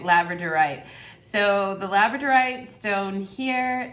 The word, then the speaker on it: labradorite: from pile number one is the labradite i'm gonna say i might be annoying in this video like pronouncing things incorrectly right labradorite so the labradorite stone